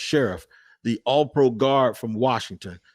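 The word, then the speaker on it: Scherff: so brandon sheriff and i used to say sherf but it is pronounced sheriff the all-pro guard from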